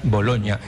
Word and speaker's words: Bologna: es como decir boloña no es bologna pero se pronuncia boloña y tiene usted razón